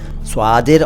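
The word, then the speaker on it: صادر: स्वादिर और सादिर इस तरह से कह सकते हैं। लेकिन सिंपली सादिर कह लीजिए दोनों को कोई बात नहीं।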